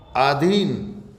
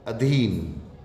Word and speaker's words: अधीन: आधीन, आधीन शुद्ध होगा या अधीन शुद्ध होगा, अधीन।